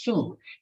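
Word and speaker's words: 恕: In Chinese pronunciation is su, is the forgiveness.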